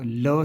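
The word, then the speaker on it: ळ: इसको ल ही उच्चारित करेंगे। है ना ल ही कहेंगे इसको है ना पर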